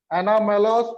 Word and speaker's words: anomalous: अब आता है एनामोलस बिहेवियर ऑफ वाटर। क्या मतलब है? एनामोलस बिहेवियर ऑफ वाटर, अजीबो गरीब।